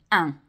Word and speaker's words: un: Okay, The next sound is a really tricky one for us English to pronounce and therefore can be quite tricky to listen out for and to hear and identify in a French spoken word as well. And this is the sound un. Un.